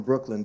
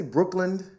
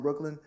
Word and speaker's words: Brooklyn: But when people say Brooklyn, like it's spelled L-A-N-D, and you're from Brooklyn, it's specifically something.